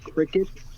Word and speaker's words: Cricut: And that's called Cricut, like the insect?